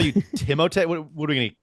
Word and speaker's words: Timothée: Apparently, his first name is also pronounced like Timothée, but it is.